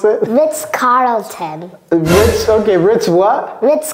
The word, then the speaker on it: Carlton: goes down yeah it's we call it a a dark L this is a dark L Carlon Carlton what do we Cody